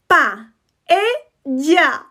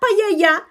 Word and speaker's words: paella: Please don't pronounce this one wrong, please. Paella. Paella. Not paella, not paella. Paella.